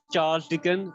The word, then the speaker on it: Charles Dickens: Well, the correct pronunciation is Charles Dickens, but sometimes when I am a bit excited, I mispronounce it.